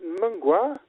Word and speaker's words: Mngwa: Anyway, Richard, before anything else goes wrong, tell me about how do you pronounce it? Mngwa?